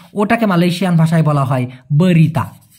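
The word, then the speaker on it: berita: বলা হয় নিউজ ওটাকে মালয়েশিয়ান ভাষায় বলা হয় বরিতা বরি তা উচ্চারণটা হবে বরি তা এবং অনেকের মনে একটা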